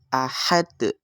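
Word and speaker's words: أحد: Bagaimana kita membacanya itu dipantulkan ketika ada huruf qalqalah yang itu berada di akhir ayat kemudian sukunnya itu bukan sukun asli. Kemudian kita membacanya dengan diwakafkan, maka di situ disebut dengan qalqalah kubra atau pantulannya itu lebih besar. Ahad seperti itu.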